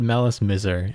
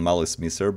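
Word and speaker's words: Malice Mizer: too we were discussing we decided melis miser is the most reasonable pronunciation yeah we we decided on uh yeah on malice mr because it's like uh a sort of like version of like malice and misery so every time yeah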